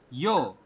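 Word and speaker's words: 여: Dibacanya adalah yo, seperti itu, ya.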